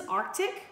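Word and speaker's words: RTIC: This is Arctic, R-T-I-C is how that is spelled.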